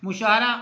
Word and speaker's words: مشاعرہ: کو کہتے ہیں۔ اور مشاعرہ، میم کے اوپر پیش ہے، شین کے اوپر زبر ہے، عین اور رے کے اوپر بھی زبر ہے، مشاعرہ۔ اور اہمال، جو یہ